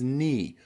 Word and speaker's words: knee: your English pronunciation okay try these wonderful silent k tongue twisters number one I knew the Knight had a knife behind his knee I knew the Knight had a knife behind his knee I knew the Knight had a knife behind his knee okay lots of silent k letters in there I knew the Knight